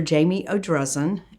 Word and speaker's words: Jamie Odrezin: have all that correct sure um i'm dr jamie o'drezen and it's spelled j-a-m-i-e-o-d-r-e-z-i-n okay what was your doctorate doctorate